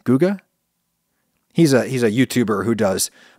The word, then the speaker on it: Guga: I think he pronounces his name Guga, right? Not Guga? Because it's short for Gustavo, right? Guga?